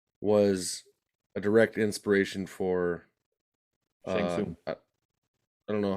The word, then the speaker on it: Shang Tsung: And also Lo Pan was a direct inspiration for Shang Tsung. I don't know how you pronounce his name, the guy that oversees the tournament. Shang Tsung.